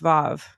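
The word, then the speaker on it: ו: So I mean, here's a little thing: the letter W mhm, in Hebrew mhm. is pronounced Vav.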